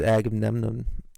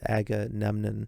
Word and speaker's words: Agamemnon: believe the play is Agamemnon. I can never pronounce it. Agamemnon, I believe it's pronounced.